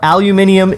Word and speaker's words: aluminium: that named it so we dropped the eye and change the pronunciation I used to be on up surprising on lumina bandwagon but aluminium is correct I looked it up